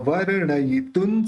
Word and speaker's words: वर्णयितुं: सामान्यतोपि तव वर्णयितुं स्वरूप। अभी जो अण के ऊपर रेफ है उसको व्र के साथ लेना है। वर्ण ये तुन स्वरूप, इसका उच्चारण न होगा क्योंकि आगे स है।